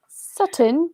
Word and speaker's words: Sutton: i just haven't no sutton sutton sutton london i think that saturn would in a south london accent is pronounced sutton it's like drop the tease sutton south london gloriously